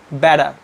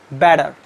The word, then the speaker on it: better: but the American pronounced better better what happens actually the pronounce this T sounds just like D okay the most of the American native speakers they use D in place of T okay so the right